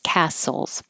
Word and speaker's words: castles: cast souls and the there's no t just castles we should have visited